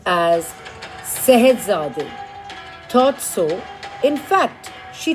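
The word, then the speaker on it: Scheherazade: Well, the character in the Arabian Nights, pronounced as Sehedzade, thought so.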